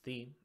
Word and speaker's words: Thena: which is the now it's tempting to take a look at those three letters t-h-e and say oh that's the but the way how it's pronounced is theme and we're going to carry that out through the rest of the video so with thee you